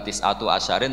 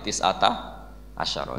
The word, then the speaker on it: tis'ata asyara: Tetap bacanya bukan tis'atu asyarin tapi tis'ata asyara.